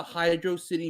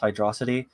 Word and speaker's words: Hydro City: the book on it I think it's supposed to be Hydro City but the way it's spelled in the original game really seems like it would be pronounced hydrosity so there's a lot of people who just assume that's how it was pronounced and when they found out that it was technically wrong it sort of becomes